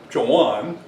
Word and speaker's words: Joan: It's interesting, Joan, and the way we pronounce the name, the second child. Not Joan, not Joanne, but Joan. Again, I'm quite certain this